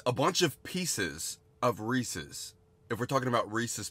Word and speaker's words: Reese's: what if I did you say Reese's like Reese racist um it's pronounced Reese's okay sorry I might